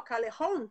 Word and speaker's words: Calejon: É igual a pronúncia de espanhol? Callejon? Exatamente.